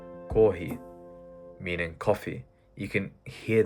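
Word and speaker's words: コーヒー: For example, this word right here is pronounced kohi, meaning coffee.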